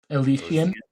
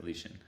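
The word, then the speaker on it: Elyasian: E L Y A S I A N. Alician. Alician. That's it. Alician Alician she basically has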